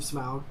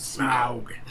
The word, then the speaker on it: Smaug: He assistant directed The Hobbit, the Battle of the Five Armies, and also The Desolation of Smaug, and Unexpected Journeys. Smaug.